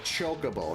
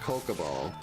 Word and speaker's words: Chocobo: Or it was like Chocobo, not Kokobo. So like, I wonder if people changed their pronunciations they've been using as a kid because of that.